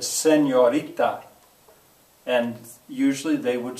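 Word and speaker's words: señorita: it well and uh I'll hear some kid out there say I hate to do this but seniorita and I'll say no that's not what I said I said senorita and usually they would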